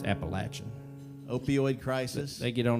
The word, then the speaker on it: Appalachian: Kind of right smack dab in Appalachian, right smack dab in the middle of the It's Appalachian.